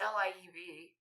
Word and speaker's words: Liev: Liev Schreiber? I thought it was Liv. It's Liev. Yeah.